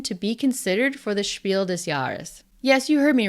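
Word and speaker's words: Spiel des Jahres: game in German to be considered for the shiel desaris Yes you heard me right shiel yarus my pronunciation of shielas in my last video got a lot of comments I pronounced shielas as Spiel dear I have looked up how to pronounce shiel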